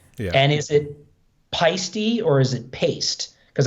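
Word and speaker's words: Paiste: And is it Peisty or is it paste? Because I always say in the beginning I used to call them paste symbols and I'd be like, no, it's not paste, it's Peisty. I got a set of Peisty 2002s.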